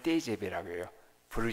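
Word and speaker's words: TGV: 온 약자의 요 그래서 우리 먹히지 v 그 발음을 떼제베 라고 해요 브루 식 발이 미 근데 이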